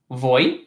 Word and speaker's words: voy: Quick pronunciation note about the V. V's are interchangeably pronounced as a V, like in English, like a V, and then many pronounce them as a B. So even me, like I flip-flop, like it's totally fine both ways.